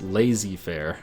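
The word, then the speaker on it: laissez-faire: economy is strange under L Fair let's get the troops home twitch chat says it's pronounced lazy Fair I don't think it's lazy Fair we should build up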